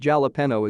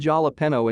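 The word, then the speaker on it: jalapeño: here replied they're called jalapeno and my sister and i were like wait are you serious he was very embarrassed to learn that jalapeno is pronounced with an h and spelled with a j we were all between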